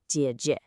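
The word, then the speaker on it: 姐姐: An older sister with a dipping third tone, jie jie. Do you hear how short and light that second syllable is?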